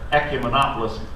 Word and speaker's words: ecumenopolis: The theme for that year was simply one word: ecumenopolis. It caused many questions to be asked as delegates sported their ecumenopolis pins as they walked through the lobbies and down the street.